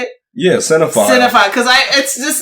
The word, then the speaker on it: cinephile: Yeah, cinephile.